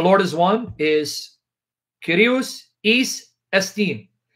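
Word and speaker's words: εἷς: In Greek, the Lord is one is Kyrios Eis Estin. Now, the way they pronounce it in the seminaries is Kyrios Heis Estin.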